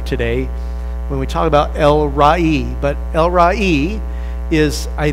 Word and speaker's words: El Roi: This week we're going to learn that he is El Rai. Now, some people look at this and pronounce it, and it's okay if you want to pronounce it Elroy, but Elroy just kind of sounds like an